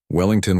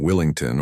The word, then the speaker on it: Wellington: Professor Hutchinson had a habit of mispronouncing Derek's last name, even after Derek corrected him politely on the second day of class. Wellington wasn't exactly difficult to say, but the professor kept calling him Willington or sometimes Worthington, like he